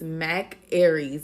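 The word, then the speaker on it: Mac Ayres: Mac I believe his his name is Mac Aries is how you pronounce it that's m a c a y e r s and just play it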